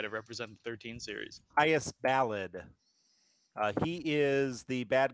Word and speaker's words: Caius: Zero Lancer on Twitch says it is pronounced Chaos. No, he says Caius. Sorry. Caius.